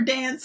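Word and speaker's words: Danse: For those of you who may not be familiar with dance, spelled with an S, D-A-N-S-E, as we are introduced later, that Dance is her stage name.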